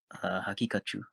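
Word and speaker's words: Haqiqatjou: Hakikachu.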